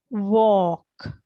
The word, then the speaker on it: walk: So this Hirosha, when we pronounce this L will be silent, right? So we read this as walk, right?